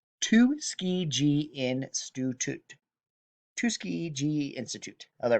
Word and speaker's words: Tuskegee: the i'm going to do my best to pronounce this the tuskey tuskegee institute tuskegee institute oh there we go tuskegee